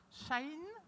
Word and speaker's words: Shein: Parce qu'il ne shine pas. Hein. Il ne shine pas. Non, il ne brille pas.